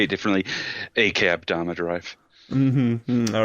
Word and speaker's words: Akudama Drive: Or depending on how you say it, because some people say it differently, Akudama Drive.